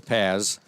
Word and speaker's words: Paz: I apologize, I was mispronouncing her name earlier. It is Paz.